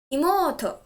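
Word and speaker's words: いもうと: Imoto. Stress the syllable mo.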